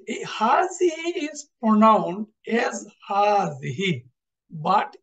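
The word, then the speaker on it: هذه: একটা বিষয় এখানে একটু বলতে হয় যে এই হাজিহি is pronoun age হাজিহি বাট is written without the আলিফ আসলে এই যে হাজা হার পরে একটা আলিফ আছে এজন্য আমরা উচ্চারণের সময় একটু একটু লম্বা করে পড়ি হাজা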